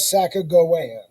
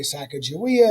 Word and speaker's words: Sacagawea: their interactions with native americans and who was sacagawea people often say sacagawea it's actually pronounced sacagawea whatever those are the three questions